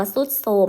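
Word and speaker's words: ทรุดโทรม: โทรม เห็น ไหม คะ ทรุด โทรม ก็ อ่าน ว่า ทรุด โทรม นะ ครับ เปลี่ยน จาก ทร ออก เสียง เป็น ศ. โซ่ นะ คะ ไม่ อาจ รุจ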